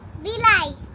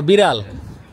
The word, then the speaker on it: বিড়াল: Building এর ড আর বিড়ালের ড ওইটা উচ্চারণ করতে পারে না।